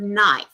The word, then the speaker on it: knife: You know, think about the word knife. Why is the K there? If the K is there, it should be sounded knife.